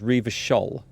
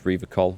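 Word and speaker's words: Revachol: He pronounces Rivachol with a hard K, unlike other people.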